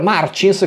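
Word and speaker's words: Martins: russo seconda posizione per victor marcis come dovrebbe essere pronunciato alla portoghese ma essendo francese l'ha pronunciata un po a farsi benedire io comunque lo chiamo martens per comodità pilota molto promettente del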